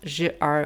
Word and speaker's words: ZZER: that the consignment Warehouse is supposed to be pronounced Jr warehouse but it's spelled out like ZZ e